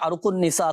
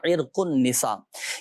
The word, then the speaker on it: عرق النساء: تھے عرق النساء۔ اچھا، لوگ بولتے ہیں عرق النساء کا درد ہو گیا، عرق النساء، صحیح تلفظ ہے اس کا عرق النساء۔ یہ یوں سمجھیے کہ